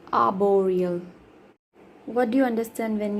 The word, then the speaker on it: arboreal: In British, R is silent. Arboreal.